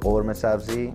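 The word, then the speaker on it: ghormeh sabzi: Well, in Iranian call it gourmet sabzi, which is the right pronounce, and khoresh qeyme.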